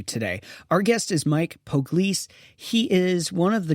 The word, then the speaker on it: Poglese: Poglese.